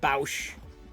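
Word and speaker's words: Boushh: thermal detonator boosh i i always pronounced it boosh some people went boush some people sell this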